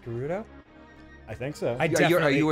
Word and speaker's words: Gerudo: Oh, is it Gerudo? It's pronounced Gerudo?